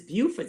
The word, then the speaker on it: Beaufort: And it is Beaufort, South Carolina. And there is a Beaufort, North Carolina that's spelled the same way.